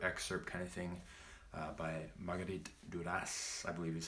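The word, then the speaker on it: Marguerite Duras: either novel with excerpt kind of thing by Marguerite du das I believe is how you pronounce that name really beautiful film kind of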